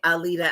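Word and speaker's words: Aleda: y'all that don't know my name is alita so alita so a-l-e-d-a so what he broke it down was in syllables it's what i say all the time when i do speak about my government a leader a leader you know what i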